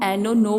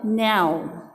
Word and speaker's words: no: आप लोगों को बता देती हूँ बच्चों, माय डियर स्टूडेंट्स, आपकी नॉलेज के लिए कि जो हम एनो नो बोलते हैं दैट इज़ रॉन्ग प्रोनाउंसिएशंस। इसका करेक्ट प्रोनाउंसिएशंस होता है नाउ।